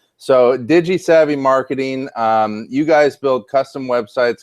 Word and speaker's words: DigiSavvy: okay good I I I really want to pronounce the I but I'm not sure if it'll flow right so Digis Savvy marketing um you guys build custom websites custom